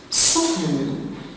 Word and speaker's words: soften: Soften, the silent letter is the T after the F.